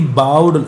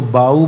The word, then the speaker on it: bow: तो ही बाउड, इसको बाऊ बोलते हैं, बाऊ, इसको बोलते हैं बो, same word different pronunciation different meaning, homonym कहलाते हैं।